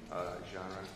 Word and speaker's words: genre: material and a piece of art from one genre translated into another genre.